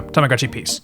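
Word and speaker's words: Tamagotchi P's: P apostrophe s so for English speakers it's pronounced like Peace So Tamagotchi peace okay so you know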